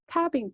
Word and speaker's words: calving: calving cows, calf의 복수형이에요. 이때 L은 묵음이에요.